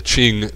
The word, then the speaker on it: Qing: So Q becomes Ch, the Qing dynasty.